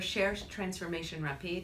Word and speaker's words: Recherche Transformation Rapide: certainly so it's a shared transformation repeat which is a French word for rapid research transformation okay that's right